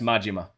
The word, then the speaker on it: Majima: It's pronounced Majima.